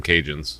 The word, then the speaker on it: Cajun: oh you know them Cajun yeah I think she she's saying she's giving it in a respectful way with she's not C I've ever met yeah she's not saying Cajun with a hard C okay those Cajun she's